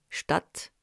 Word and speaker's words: Stadt: Et le S se prononce Z devant une voyelle, sagen, besonderer, ch à l'initiale devant T et P, Stadt, Spur, et S partout ailleurs.